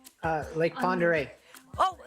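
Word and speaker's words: Pend Oreille: first name or your last name uh lake ponderay oh like ponderay you're correct it is and you said it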